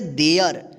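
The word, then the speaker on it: there: टी एच ई आर ई इसको क्या पढ़ेंगे देयर यहां पे ध्यान रखिएगा टी एच ई आर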